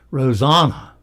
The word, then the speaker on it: Rosanna: She says it's Rosanna, like Anna in Frozen.